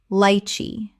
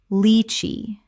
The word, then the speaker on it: lychee: Lychee. Correct pronunciation. Litchi. The first syllable sounds like the word lee. Not like the word lie.